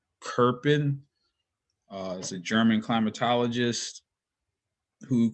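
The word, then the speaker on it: Köppen: and so this is the uh kerpin so that's how that's pronounced kirpan as a german climatologist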